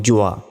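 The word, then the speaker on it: ذ: এই দেখুন আরেকটি অক্ষর জ এখানে জিবা বের করে উচ্চারণ করতে হবে তাহলে জিহবা বের করে কি কি অক্ষর সা জাল আর এই জ এই যে জ এই জ অক্ষরটি জিহবা বের করেই উচ্চারণ করতে হবে দেখুন তর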